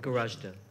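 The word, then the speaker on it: Goražde: Is it pronounced Gorashte? Gorashte.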